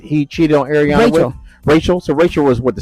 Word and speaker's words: Rachel: I really don't have Raquel. I'm sorry. We're calling her Rachel. Yeah, her name is spelled like Rachel. It's Rachel.